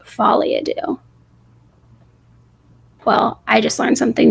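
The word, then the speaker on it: folie à deux: Folly adoo. That's how you say it. Fadoo.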